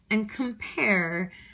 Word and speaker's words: compare: And compare, I feel like I say compare and I stress the pair, so unstressed followed by a stressed, okay?